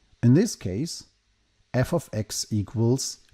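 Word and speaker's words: f(x): F followed by x in brackets is pronounced f of x or sometimes fx.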